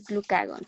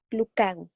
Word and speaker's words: glucagón: No, no lleva acento en la O, por lo tanto, no se pone la sílaba tónica ahí. Se llama glucagón, no glucagón, ¿vale?